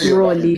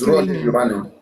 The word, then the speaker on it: Roli: My name is Roli, Roli, but it's pronounced Roli. It's Roli. Roli.